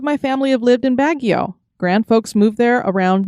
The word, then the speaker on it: Baguio: three generations of my family have lived in baguio grand folks moved there around 1955 so it